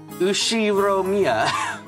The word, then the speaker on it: Ushiromiya: The first part is my family name, Ushiromiya. That's a fairly plausible Japanese pronunciation so far.